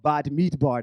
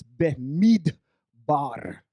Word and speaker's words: Bamidbar: is coming from the book of bad meatbar that's not how you actually say it it's be bar okay and here you roll your r's we do the same